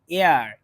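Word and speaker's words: heir: এখানে একটা ভুল আছে, আর এটার উচ্চারণ কিন্তু হেয়ার না, এয়ার। উচ্চারণটা এয়ার, মানে ভাওয়েল এ আর।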